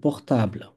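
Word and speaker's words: portable: যায় কিন্তু ফরাসিতে এটা এই ইংলিশ শব্দটারই ফরাসি উচ্চারণ হবে পোখতাবলা তাইলে যদি কম্পিউটার এক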